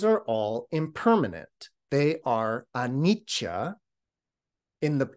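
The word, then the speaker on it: anicca: all impermanent they are anicha in the in the poly language the word is anicha in Sanskrit it's Ana same word just a slight different pronunciation but this idea of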